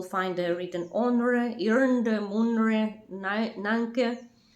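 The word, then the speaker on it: நான்கு: They're written one way and you pronounce them differently, like onre, one, you pronounce una, irnde, rende, munre, mune, nanke, you pronounce nale, and 5 you pronounce, I think it's pronounced in Tamil, aind, and you pronounce it anji.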